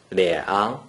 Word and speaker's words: 两: According to the rule that you just learned, a single digit 2 without any other digits in the first green circle is pronounced 两.